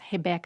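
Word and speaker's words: Rebeca: her name name is hebecca and for people that want to know how to say her name in Portuguese it's hebecca Andra uh she got silver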